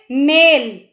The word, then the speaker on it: मैल: मेल और मैल में उच्चारण अलग हो रहा है। अगर आप इसको ध्यान से समझोगे तो ये बिल्कुल ही अलग है।